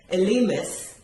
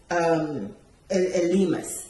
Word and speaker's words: Elymas: young lady, and then let's say was it pronounce it for me, Elymas, yeah?